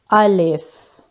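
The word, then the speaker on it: ا: But Alif is pronounced with empty mouth. Alif.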